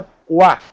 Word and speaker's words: Poitiers: Escreve com I, mas pronuncia Poit. Poitiers, escreve Poitiers, mas é em francês.